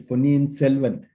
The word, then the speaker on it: Ponniyin Selvan: So first, can I correct the pronunciation? It is Ponniyin Selvan.